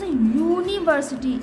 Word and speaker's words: university: In university, we pronounce university. It means Y sound is pronounced.